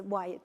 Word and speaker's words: Wyatt: Last time I said it wrong. It was Hyatt last time, but it's Wyatt.